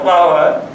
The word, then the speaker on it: flour: This word, pronunciation flower can create problem. Flower is a flower. No, it's flower only. Both are flower only.